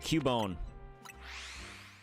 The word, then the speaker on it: Cubone: Alright, let's go get Cubone.